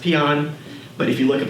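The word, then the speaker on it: paean: leader we paan on North Korea which is pronounced peon but if you look up in dictionary it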